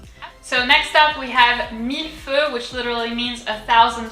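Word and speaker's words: Mille Feux: a duck face and the x is silent so let's go ahead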